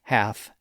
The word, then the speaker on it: half: And the same thing happened in a lot of words spelled with ALF, like half and calf. Again, we don't say half and calf, even though the spelling of the words suggests that we should. The L in those words also became silent during the early modern period.